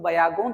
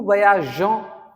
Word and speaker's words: voyageons: अगर आपने ये, if you don't add this e, this will be pronounced nous voyageons. That is a wrong pronunciation according to French grammar. Okay, so nous voyageons, vous voyagez, elle voyage.